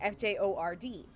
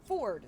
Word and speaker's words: Fjord: um and it's called spelled f-j-o-r-d which if you don't know critical role you would pronounce it as fjord but if you know critical role there's a character whose name is Ford spelled that way and that character is